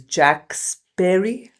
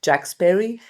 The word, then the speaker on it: Jack Sparey: Uh, his name is Jack Sperry. That's how you pronounce it. Jack Sperry.